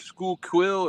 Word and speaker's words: Schuylkill: a couple of times they pronounce it funny though really School quill or something like that ah copy and B